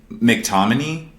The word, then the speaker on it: McTominay: I think McTominay, is that how you say it? McTominay?